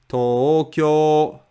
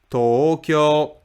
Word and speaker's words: Tokyo: middle flat pitch yoing Tokyo is flat Tokyo Tokyo Sapporo is flat sap